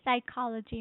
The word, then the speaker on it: psychology: It says psychology means the stress is on the second syllable which is here. Psychology. Psychology. In this word P is silent.